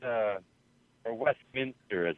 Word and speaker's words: Westminster: you still in Westminster oh you're in Denver Westminister yeah it's uh or Westminster as it's pronounced right the uh brother forecast said that